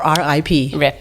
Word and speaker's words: RIP: Dizes RIP ou r i p? RIP, sim. RIP in heaven e três romances: "The outside Boy", "The Crooked Branch" e, claro, "Terra Americana".